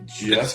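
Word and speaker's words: Djeff: Jeff with a D, D-J-E-F-F, Jeff. The D is silent.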